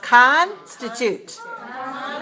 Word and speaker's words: constitute: word you have constituted three syllables and it's stress on the first so we say ah ah constitute right good let's say